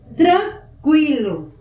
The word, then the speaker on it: tranquilo: Outra palavra, sequela, tranquilo. O U também é pronunciado.